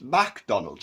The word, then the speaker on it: McDonald's: scottish and ivish and it is pronounced mac not make a book so there's